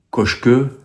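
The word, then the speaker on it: Kökçü: du Benfica et derrière c'est cochque mais vous pouvez prononcer cocu parce que ça s'écrit cocu euh puis ça me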